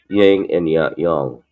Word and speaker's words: yin and yang: But if you go into the real pronunciation, the Chinese pronunciation, it's yin and yang. But the American version is yin and yang.